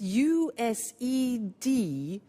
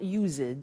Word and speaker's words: used to: It's U-S-E-D and then T-O. But the pronunciation is not used, it's used.